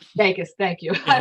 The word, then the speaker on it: vagus: Vagus nerve, which is really Vegas.